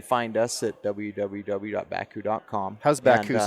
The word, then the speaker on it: Bakcou: And so stress on the syllables is where we went to BAK, and we still have people all the time put the C in front of the K.